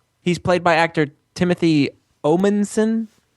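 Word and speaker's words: Omundson: He's played by actor Timothy Omenson. Omanson. It's hard to pronounce.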